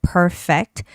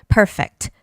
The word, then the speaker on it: perfect: existing in the word perfect. You have to be careful with P sound and an F sound when they come together you can get like confused. Perfect. It's the first syllable stress.